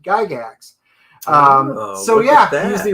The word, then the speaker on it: Gygax: best friend and um they actually pronounced it in the old world giga um d whereas gary os pronounced it gigax um so yeah he's